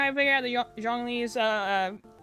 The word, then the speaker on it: Zhongli: You know how I figured out the Zhongli's pronounced that way is because someone corrected me, because I'm like, oh, you don't say the Z.